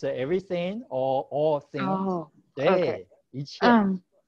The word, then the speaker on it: 一切: Okay, it's pronounced in the first tone, in the fourth tone. Okay, 一切 meaning all things and everything.